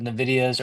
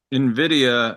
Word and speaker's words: NVIDIA: for a minute so we can watch the live ticker of NVIDIA's earnings after hours.